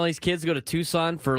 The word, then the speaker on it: Tucson: I can make fun of Tucson and it's Tukon if you want to pronounce it. The native Native American uh language that made that is what Tucson is named after.